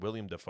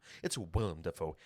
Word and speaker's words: Willem Dafoe: He said William Dafoe. I'm like, no, it's Willem. It's Willem Dafoe.